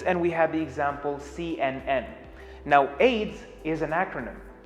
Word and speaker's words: CNN: as aids one word cnn is pronounced as c n n as separate letters now that we know